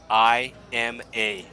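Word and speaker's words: Ima: They had a daughter, and the name of the daughter is spelled I-M-A. That's right. They named the daughter I'm a Hog.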